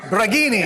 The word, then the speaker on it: Braghini: Braghini. It's like Lamborghini, just take the lamb off.